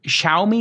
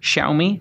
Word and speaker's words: Xiaomi: the Chinese company with the x is that xiaomi xiaomi is how you pronounce it xiaomi yeah x i a o m i xiaomi